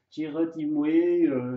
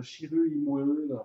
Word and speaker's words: Chirrut Îmwe: voilà, tu as bien prononcé ton nom parce que Shiru Imwe, Shiru Imwe, enfin.